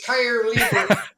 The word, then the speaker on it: Keierleber: It's Keierleber. and actually, Keierleber. I'm educated on this stuff too, and talk to people that really know the German language well. The EIE gets pronounced as a long I.